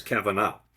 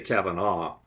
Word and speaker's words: Kavanagh: And the Irish way of saying is Kevin up, but in America they tend to say Kevin a but either way is good.